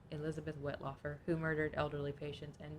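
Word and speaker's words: Wettlaufer: last name it says it says it's pronounced whitlocker Elizabeth whitlocker who murdered elderly patients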